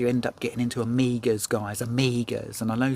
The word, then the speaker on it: Omega: me saying Amiga, because you think it should be Omega, or something weird that you do with the G, Omega, or something like that. But guys, it's Amiga. And I'll tell you why it's pronounced Amiga, because James Bond pronounces it Amiga in Casino Royale, when you know, when